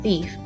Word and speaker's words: thief: Thief was the word we were looking for, and the word thief has a long E sound in it.